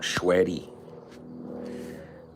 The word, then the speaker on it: Schweddy: Schweddy.